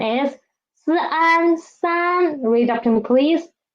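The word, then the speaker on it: 三: In Chinese, the pronunciation is Sun.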